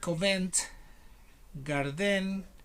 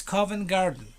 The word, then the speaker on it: Covent Garden: i some people said comment garden i don't know they miss stress the celeb where it should be so it's covent garden if you go to